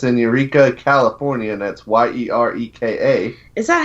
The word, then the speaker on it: Eureka: That's in Eureka, California, and that's Yereka. Is that how you say it? I have no Eureka? idea. Yeah, Eureka. Yeah, it's Eureka.